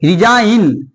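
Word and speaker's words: resign: होता है संकेत देखिए रिजाइन यहां क्या है जी साइलेंट है ठीक है रिजाइन देखिए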